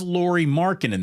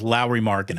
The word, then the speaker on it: Markkanen: Is Lauri Markkanen, though? Excuse me, Lauri. It's not Lauri. It's Lauri. Is it really? It is Lauri Markkanen.